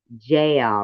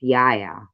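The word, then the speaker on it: Jael: uh jules it's not jail review it's yaya it's pronounced yaya you don't say j it's yaya not jail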